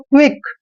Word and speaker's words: क्विक: देखिए क्याउ का उच्चारण हम क करते हैं और जहां पर UI आता है क्याउ के बाद उसको वी पढ़ते हैं, वी, और CK का उच्चारण क करते हैं। इस तरह से पढ़ेंगे इसको।